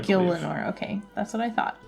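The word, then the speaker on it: Gielinor: the world of how do you say that Gilmore Gil Lenore okay that's what I thought my job is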